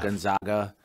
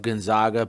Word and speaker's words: Gonzaga: a big part of gonzaga bursting on the scene right was dan munson when this all got started schooling everyone in a press conference on the proper way to say gonzaga instead of gonzaga right that was a